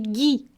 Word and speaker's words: ghee: tout le monde dit Guy ah tout le monde dit Guy merci de la correction un beurre exemple d'eau